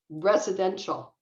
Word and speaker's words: residential: and um and so this word um is four syllables and the stress is on the second syllable you can say it with me if you want um so it's res residential residential yeah residential residential